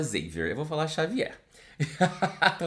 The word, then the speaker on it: Xavier: Whitney, que se chama Xavier. Mas assim, sabendo que é um livro em inglês, a pronúncia correta seria Xavier. Mas eu não vou falar Xavier, eu vou falar Xavier.